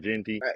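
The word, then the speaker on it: Jeanty: Ashton Genty. Yeah, Ashton Jensy. Jensy. Jensy.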